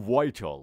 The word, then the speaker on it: vital: لغت شماره 20، لغت آخر میگیم وایتال. اوکی، میگیم وایتال، اما مثل همون لغتی که میگن در تلفظ آمریکایی اندکی دی تلفظ میشه.